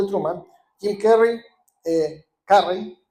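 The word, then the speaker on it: Carrey: Kim Carry, eh, Carry, así como se pronuncia bien en inglés, Jim Carry, un hombre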